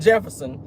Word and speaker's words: Jefferson: The J is silent in Jefferson. It would be Jefferson.